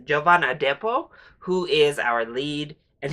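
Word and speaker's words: Jovan Adepo: the standout here is I think it's pronounced giovanna depo who is our lead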